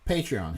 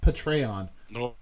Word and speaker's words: Patreon: like his participate Rhian patreon his patreon page which he pronounces portray on hawk you face bastard portray on really its patreon with patreon thank ya I've heard other